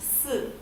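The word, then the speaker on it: 四: The reason for that is because the word for 4 in Chinese is pronounced si, which sounds a lot like the word for death, which is si.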